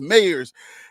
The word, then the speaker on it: Mayers: It's not Myers, it's Mayers. And Justin actually came on the video and he corrected me. He was like, yeah, you're right. He's like, yes, he's right. It's Mayers. But the pronunciation could be Mayers or Myers, but it's based on the person.